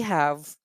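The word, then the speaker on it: ح: They are pronounced by the center of our throat, middle of our throat.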